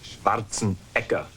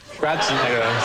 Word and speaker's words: Schwarzenegger: Actually, in Austria, they pronounce it Schwarzenegger. Schwarzenegger. So just to confuse you a little bit.